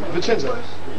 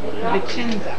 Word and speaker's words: Vicenza: This is, spell it again, who's really responsible originally? Vicenza. Vicenza. Vicenza, Italy.